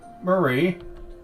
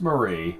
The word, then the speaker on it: Marie: Because that name is pronounced different than how it usually is. All the times I've heard it, they call her Marie Antoinette, not Mary.